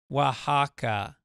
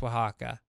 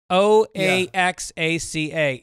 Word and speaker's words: Oaxaca: He says, sometimes I have a hard time when I see Oaxaca in print, which for some reason I pronounce Oaxaca. It is pronounced Oaxaca. O-A-X-A-C-A is Oaxaca.